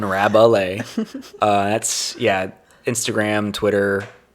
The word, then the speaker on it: Rabalais: at rabbley but spelled phonetically because my last name is hard to spell sometimes so it's a r-a-b-u-h-l-a-y rabbalay uh that's yeah Instagram